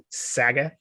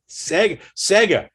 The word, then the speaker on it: Sega: So I won't correct you anymore when you say Saga. Sega. Now you got me questioning it. Sega. You say Sega all the time. Sega.